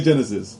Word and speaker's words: Genisys: Genisys. We're saying it Genesis.